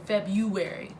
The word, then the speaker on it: February: February yes that's right I said February not fair brewery with art nobody uses art nobody used our I haven't used the art since I can remember learning how to say the word February oh but anywho welcome